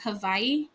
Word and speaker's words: Hawaii: So, I was picking up Indonesia, Peru, Argentina, Chile, Portugal, and Spain, France, Southeast Asia, and Hawaii, but it's pronounced Havaii.